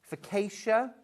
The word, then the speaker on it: focaccia: Focaccia?